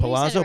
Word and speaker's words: Palazzo: But so is it Palazzo? Yeah, you Palazzo, said it right, Palazzo.